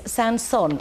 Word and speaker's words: Saint-Saëns: And Ros even wrote down for me, you pronounce this Saint-Saëns.